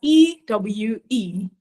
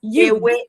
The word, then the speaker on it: ewe: That's EWE, the female lamb, like a female lamb. So that's you. Ewe.